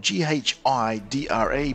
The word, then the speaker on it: Ghidra: The NSA have released Ghidra. That's right, it might be spelled G-H-I-D-R-A, but it's pronounced Ghidra.